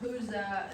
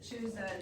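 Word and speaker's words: Chuza: her and her husband it's either cha or hza um some of them of the people I listen to pronounced it hza and some pronounced it Chua it's easier to say cha because that's what it looks like so our husband Cho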